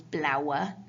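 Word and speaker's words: blaue: we've got blower algon there's lots of vowels there but you kind of need to break them up into two sounds you've got the a u sound and then the e so that becomes blue yeah so blue algon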